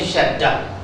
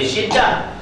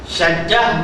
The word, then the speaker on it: syaddah: huruf dan 14 syaddah Bacanya syaddah jangan baca syiddah syaddah maknanya tasdid ataupun sab